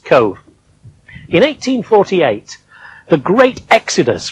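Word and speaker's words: Cobh: with cove on it it's spelt c-o-b-h but it's pronounced cove in 1848 the great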